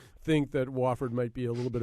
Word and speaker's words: Wofford: that Sports casters are mistakenly doing it's actually pronounced wford w f fo o r d I've heard wafford I've heard woord I've heard wford but it's wford I assure you all right uh we wanted